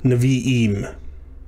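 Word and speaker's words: נביאים: So navi is going to become n, v, im, naviim.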